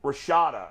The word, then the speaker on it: Rashada: big story um Jaden rashada am I saying his name wrong yeah no that's correct Jayden Rashad I'll fill you